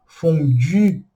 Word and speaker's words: fondue: Mas ó, a boca tem que ser do U e o som, aí sim, o som do I. Então, fondue, fondue, tá bom?